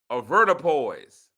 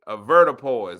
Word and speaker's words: avoirdupois: Avertipoise.